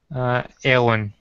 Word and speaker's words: Aylwin: Yeah, Alwyn. Is that how you say it, your character's name there, Matt? Aylwin. Aylwin. Okay, Aylwin.